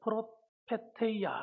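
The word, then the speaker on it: προφητεία: 그래서 이 헬라어로 이 예언하는 은사를 프로페테이아 이렇게 말합니다. 프로페테이아. 한번 따라합시다. 프로페테이아. 예, 잘하시네요. 예, 발음이 아주 좋으세요.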